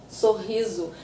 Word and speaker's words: sorriso: And you have the one S between two vowels, zu, sorriso. And you also have, when the word ends in O and there's no graphic accent on the O, we tend to say U, sorriso.